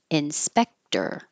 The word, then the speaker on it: inspector: that position work and Inspector Inspector looks like o r at the end but it sounds like e r um I should point